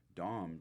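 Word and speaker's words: domme: n a is also assigned to females saying Dom d o m e and by the way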